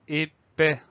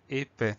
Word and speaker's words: épais: Alors, comme pour époque, on a le son E avec un E accent aigu au début du mot. Ensuite, deuxième syllabe, paix. Alors, deuxième syllabe, on fait attention, le son S s'obtient avec un A et un I. Et on a le S muet derrière, donc épais.